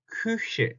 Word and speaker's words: Küche: 자, 이것도 발음 조심해야 되죠. 우에서 위가 되는 게 아니라 위라고 하면 어떻게 우 다음에 이 하고 입이 벌어지죠. 양옆으로. 그게 아니라 우라는 소리를 낼 때처럼 입 모양은 앞으로 모아둬서 우한 상태에서 입 모양 그대로 두고 소리만 이를 낸다는 느낌으로 하면 으 다시 한번 으 이런 소리가 나겠죠. 그래서 발음은 큐 Küche 이렇게 합니다.